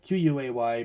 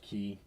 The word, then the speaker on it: quay: Quay. Pretty sure it's pronounced key.